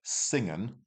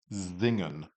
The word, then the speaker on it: singen: So instead of singen, that's wrong. It sounds like a Z. It's actually zingen.